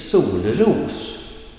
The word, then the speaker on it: solros: And the pronunciation in this combined word is first a falling tone, accent 2, sol, ros, solros, solros, right?